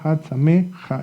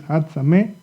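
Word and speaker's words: חג שמח: of Hag Sameach, and it's not going to pronounce Had Samecha, okay? It's not Had Samecha, it's Had Sameach.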